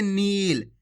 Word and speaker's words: नील: अगर आप नील पढ़ोगे तो इस प्रकार से छोटी ई की मात्रा का उच्चारण हो जाएगा नील। जबकि अपन बड़ी ई की मात्रा पढ़ रहे हैं तो खींच के पढ़ेंगे नील।